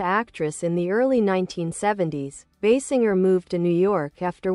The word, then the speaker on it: Basinger: Kim Basinger, pronounced Basinger, is an American actress